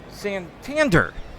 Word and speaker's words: Santander: fourth here we have Anthony sand Santander that's his name I guess that's how you pronounce it getting set to